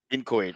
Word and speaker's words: inchoate: Inchoate, and it's pronounced with a k sound. Incohate. Inchoate.